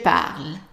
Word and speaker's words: parle: Je parle. And remember the E here is silence.